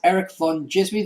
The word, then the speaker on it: Erik Van Djismie: And for the one that isn't here, you can follow him on Twitter at Erik Van Djismie. That's ERIKVANDJISMIE. And remember, the D is silent.